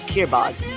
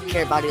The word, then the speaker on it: Kiribati: Now we have Kiribati, not Kiribati like I thought. Yeah, that's how they say it.